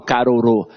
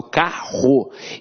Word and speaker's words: carro: Eu não falo carorô, eu falo carro. Então esses dois R's aqui têm um som de R forte.